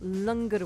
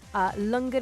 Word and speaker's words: Langar: start for afternoon tea also reflecting upon National Langar Week, which is taking place this week. So across the West Midlands and the country, Langar is being served.